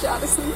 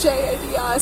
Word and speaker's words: Jadison: My name's Jadison. How do you spell it? Jadison. So Hold it's on, like hold on. It's like Madison, but with a J.